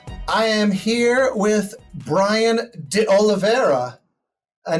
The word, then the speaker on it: D'Oliveira: But to be clear, am I saying that correctly? You're saying it perfectly, actually.